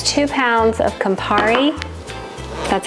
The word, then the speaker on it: Campari: throw my tomatoes and it's two pounds of Campari that's how you say it and we're